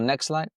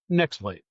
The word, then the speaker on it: Nextlight: NX light. Could you tell us how do you pronounce it? NX light. Is that right? Or next light? Uh, next light. Sure. Okay. Yeah. Next light as in NXT Li T.